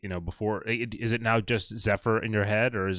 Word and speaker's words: Zefyr: It's right now it's ZEFYR. At least in French it's ZEFYR, but pretty much the same.